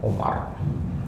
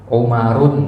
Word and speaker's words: Umar: ya Amr Bin as jadi kalau kita ketemu nanti ada wau ahah itu bacanya Amar ya kalau enggak ada itu bacanya Umar nah bedanya Satu lagi kalau